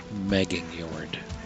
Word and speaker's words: Megingjord: Megingjord. J's are pronounced like Y's. So, Megingjord.